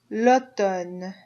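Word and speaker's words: automne: and the last season Lon Lon it's also masculine L and you don't hear that m in there at all L just ignore it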